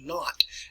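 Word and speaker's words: Nantes: is spelled there in a ntes what we pronounce it as not now an edict means like a ruling an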